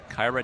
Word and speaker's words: Kyra: KYRA, don't call me Kira.